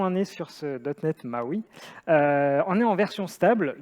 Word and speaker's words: MAUI: ses il ya une latence du coup dotnet maui donc voilà ce soir vous vous coucherez monde est on dit marc oui du coup ou est-ce qu'on en est sûre ce botnet maui en et en version stable depuis la fin